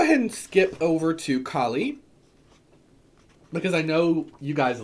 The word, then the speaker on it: Kali: So, Kali, pronounced Kali usually, and she's so cool.